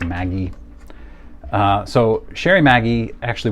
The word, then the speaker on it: Magee: pronouncing his name right it looks kind of like magee but the the youtube videos i've watched it's pronounced maggie uh so sherry maggie